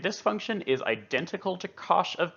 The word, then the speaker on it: cosh: You might also hear others pronounce this function as cosh t, but I prefer to call it cosh t.